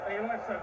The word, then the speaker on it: Eyjolfsson: Pronunciation, Eliasson, but Harris has nicked away with the ball.